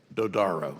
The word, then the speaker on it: Dodaro: Dodaro, I believe I get that name right? What is it? How do you say it? Dodaro.